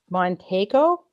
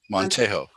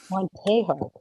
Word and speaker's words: Montejo: Montego Montejo. Montejo. Pronounce the J as an H.